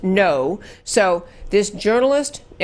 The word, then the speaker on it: Ngo: and I looked it up and so it's pronounced no so this journalist yeah and Ino was at